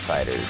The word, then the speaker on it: FighterZ: Or maybe Dragon Ball FighterZ or Fighters, however you want to pronounce it. I think it's technically Fighters, but you know what?